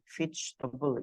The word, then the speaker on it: vegetable: Terus ini yang vegetable tuh bacanya tuh ini pakai i, vegetable. Ini e-nya itu tuh silent. Ya, yang ini sebenarnya tuh silent. Si e yang kedua ini. Jadi kita bacanya sebenarnya cuma vegetable.